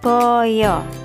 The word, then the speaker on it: baya: dalam bahasa Jawa hewan ini disebut Boyo tulisannya baya tapi anak-anak membacanya Boyo Nggih Oke kita